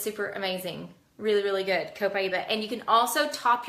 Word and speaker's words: Copaiba: Next one is Copaiba. This one, or Copaiba, some people pronounce it differently. So Copaiba is how I've pronounced it.